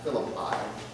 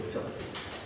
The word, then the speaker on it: Philippi: You've heard of Philippi, sometimes pronounced Philippi, but it's really Philippi.